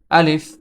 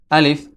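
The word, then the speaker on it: ألف: প্রথম হরফটি হচ্ছে আলিফ আলিফ এই হরফটি মুখের খালি জায়গা হইতে উচ্চারিত হয় আমাদের এই যে মুখ দেখতেছেন এই মুখের খালি জায়গা হতে আলিফ হরফটি উচ্চারিত হয়। আলিফ আলিফ আলিফ।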